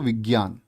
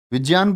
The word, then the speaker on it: विज्ञान: सा कथन अशुद्ध है हिंदी में ज का उच्चारण परंपरा से भिन्न हो गया है आप लोग क्या कहने लग गए हैं इसको विज्ञान विज्ञान बोलते हो क्या क्योंकि जो ज्ञ है क्या बोलेंगे इसको जिया होता है ठीक है ज धन